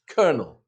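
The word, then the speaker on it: colonel: And kernel, we don't pronounce the L or the second O, we just pronounce kernel.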